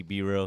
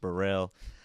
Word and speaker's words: Bereal: Players call me Bereal because of my last name, but it's pronounced Bereal.